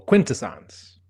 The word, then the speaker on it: Quintessons: Emphasis on the first syllable. Quintessance.